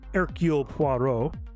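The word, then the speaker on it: Hercule Poirot: he's so cool uh his name starts with an h by the way but that's not how you pronounce it uh because he's from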